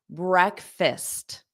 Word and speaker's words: breakfast: out loud right now breakfast breakfast so did you notice is not pronounced as break and there's no fast in it either so listen again breakfast